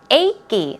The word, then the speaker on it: achy: on to a key a key it's two syllables a key is the way you pronounce it painful sore or even